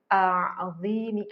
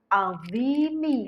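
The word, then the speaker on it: عظيم: banyak yang salah loh bacanya seperti ini Subhana rabbiyal a'zimi ah salah bukan a'imi Subhana rabbiyal adzimi harusnya gitu bukan azimi tetapi Subhana rabbialimi wabihamdih Nah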